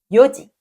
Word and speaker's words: よじ: 하지만 시각일기에서는 내시를 연지도 시지도 아닌 요지 요지라고 읽습니다. 이거 발음하실 때 요를 짧게 발음하셔야 해요. 요직라고 요를 길게 읽게 되면 내시가 아니라 있으시계라는 뜻이 되어 버리니까 길게 발음하지 않도록 주의해 주세요.